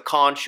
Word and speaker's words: conch: Then you have your close relative of the snail, and this is the conch or the conch. Different pronunciations depending on different parts of the country.